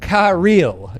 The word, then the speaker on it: Kirill: Kirill is how it's supposed to be pronounced. The Kirill? Emphasis on the real part of it, I guess.